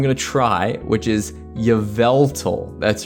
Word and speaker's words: Yveltal: to try which is Yveltal that's right okay I used to call it yal which is that's absolutely not right but look at this